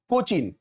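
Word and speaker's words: Cochin: तो देखिए, the poet is driving to द कोचिन, हाँ कोचिंग नहीं है, आप ढंग से स्पेलिंग देख लीजिए पहले।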